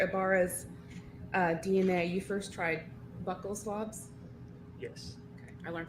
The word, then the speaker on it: buccal: Ibarra's DNA, you first tried buccal swabs? Yes. Okay. I learned today that they're pronounced buccal, not buccal.